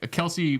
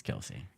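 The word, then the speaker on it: Kelce: Yeah, Kelsey was hilarious. Yeah, that was. Kels, right? Isn't that how you say it? It's Kelsey.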